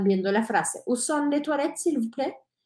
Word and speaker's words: toilettes: la frase uso de toil s recuérdense que la t no se dice al final la s no se dice al final y por eso pronunciamos así toil yo fui a París